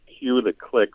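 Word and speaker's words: Q the Clique: They're called Q the Click, which is spelled the letter Q, and then the Click spelled CLIQUE.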